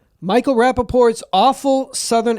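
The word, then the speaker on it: Rapaport: Rappaport.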